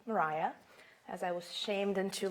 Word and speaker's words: Maria: Her name, by the way, her first name is spelled like mine, M-A-R-I-A, but it's pronounced Mariah, as I was shamed